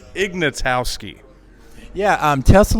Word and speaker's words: Ignatowski: your last name is pretty hard to pronounce Ignatowski yeah um tell us a little bit about